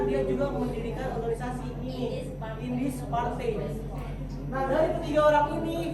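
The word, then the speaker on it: Indische Partij: Tapi bacanya Indis Party.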